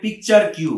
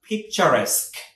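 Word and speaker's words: picturesque: এটার উচ্চারণটা অনেকে বলে পিকচার কিউ, হ্যাঁ বাট ইটস রং, এটা উচ্চারণটা হচ্ছে পিকচারেস্ক, কি হবে পিকচারেস্ক, মনে রাখবেন এভাবে পিকচার্স, প্রথমে পিকচার্স, PICTURES, পিকচার্স, QUE, কিউ, তো পিকচার্স কিউ বলবেন না, পিকচারেস্ক, উচ্চারণটা হচ্ছে পিকচারেস্ক ভিলেজ।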